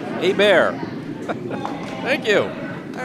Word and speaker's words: Hebert: Thanks to Shaheen Basiri's mother, I am told that it is pronounced as a bear.